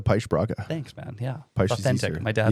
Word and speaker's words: Paes-Braga: sounds like you know the North American uh announce or a pronunciation of it is pace brega I prefer the push broadcast thanks man yeah my